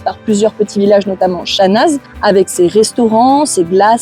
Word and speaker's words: Chanaz: des touristes qui s'appelle Chanaz je vais prononcer le Z à la fin pour que vous puissiez trouver C A n a Z et qui est en